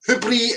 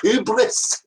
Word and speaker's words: hubris: Hubri is pronounced hubris.